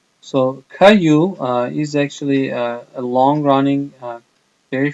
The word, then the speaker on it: Caillou: from Canada it's called Caillou it's a French name so a lot of letters are not pronounced so Caillou is actually a long-running